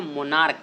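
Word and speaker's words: monarch: लेकिन मेरे प्यारे विद्यार्थियों यहाँ पे आप ना मोनार्क, इसको क्या बोलते हैं, मोनार्क। तो इसका जो एक उच्चारण हो रहा है ना, जब आप इसे प्रोनाउंसिएशन करते हैं तो क्या करते हैं, क बोलते हैं।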